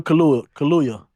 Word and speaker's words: Kaluuya: I don't know how to pronounce Daniel that. K. Yeah. Daniel Kaluuya.